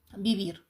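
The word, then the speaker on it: vivir: вивчимо пізніше не Сьогодні бівір якщо починається на в так то це б читається бівір це жити я живу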